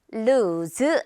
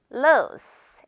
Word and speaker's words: loose: 로즈 아니고 로즈 s로 끝내 볼게요.